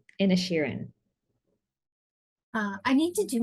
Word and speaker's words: Inisherin: reviewing the Banshees of inertian in the and Sharon in a Sharon there we go I'm like I knew that I was not pronouncing one of those eyes there um in a Sheeran uh I need to